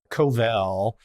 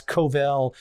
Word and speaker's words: Covel: My last name is Covel, and most people never pronounce that correctly, but that's Covel, shortened from, shortened from, Lithuanian, all kinds of things with names.